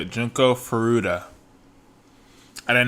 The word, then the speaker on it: Junko Furuta: So that's how you say it, Junko Furuta.